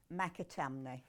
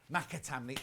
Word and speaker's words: McAtamney: McAtamney. McAtamney.